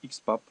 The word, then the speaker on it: XBAP: Bu teknolojinin adı XPub. Okunuşu bu şekilde.